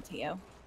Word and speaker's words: Theo: but he pronounces it T-O. Yeah, it's actually Okay. not. He spells it. He pronounces it weird. I don't know how to pronounce the full name, but we just call him Tio.